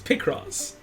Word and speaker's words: Picross: somnus with the 326 is it pronounced P cross picross or picross it's picross it's picross it's picross it's picross it's picross it's pie crust it's pie crust it's